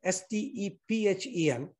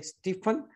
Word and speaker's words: Stephen: but I still keep confused how to pronounce his name. He spells it S-T-E-P-H-E-N. So being fanatic, I just kind of say Stephen, and my wife keeps saying, no, it's Stephen.